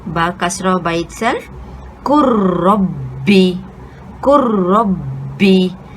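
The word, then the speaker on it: قُلْ رَبِّ: And lastly, the letter ba kasra by itself, kurrabbi, kurrabbi. So taking note here, நம்ம lam sukuna நம்ம pronounce பண்ணல, அத எழுத்தை மறைச்சிட்டோம். So it becomes silent.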